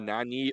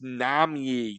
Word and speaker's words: Nami: I could call him oh Nani oh it's Nami damn I'm so close